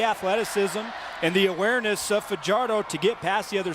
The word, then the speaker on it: Fajardo: Now, many would pronounce his last name Fajardo. He pronounces it Fajardo. And he said he does that because as a youngster, everybody mispronounced it. And he said, I'm just going with Fajardo.